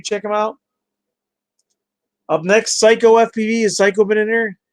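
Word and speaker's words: Cyco FPV: Psycho FPV, it's spelled CYCO.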